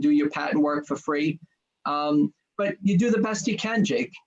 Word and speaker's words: Fried: and my last name is spelled free fried but it's pronounced free then I'm fried